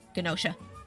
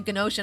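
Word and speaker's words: Gnosia: But uh yeah, I just was on a rant about Gosha and how much I love Gosha. You guys should check it out. It's spelled uh it's spelled G N O S I A. Gosha.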